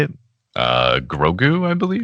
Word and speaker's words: Grogu: Grogu, I believe. Grogu.